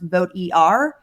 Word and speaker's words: Vot-ER: background and context for the listeners of who voter is, especially for folks hearing it for the first time, I know the spelling is funny. It is VO t-er, but it's pronounced vote er and we are a nonpartisan nonprofit that works